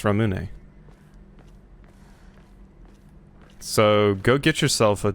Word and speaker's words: Ramune: Is it Ramun or Ramune? Since I'm probably going to be saying that a lot. Ramune. Okay, well there's your answer for how do you restore your sanity, Hemlock. Apparently, it's Ramune.